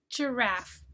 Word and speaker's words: giraffe: You don't hear the silent E, but we keep the silent E because we borrowed this from a foreign language. It was a non-English word and we kept the spelling.